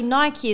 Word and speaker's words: Nike: tell me what but apparently Nike is actually the correct way of saying the brand like the person who